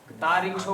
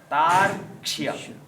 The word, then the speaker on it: तार्क्ष्य: अब यहाँ पर उच्चारण थोड़ा गड़बड़ करते हैं लोग ना, तो स्वस्ति न नस्तार्क्ष्यो, तारिक्षो बोलते हैं कई लोग, तारिक्षो तो गलत है उच्चारण, री तो कहीं है ही नहीं।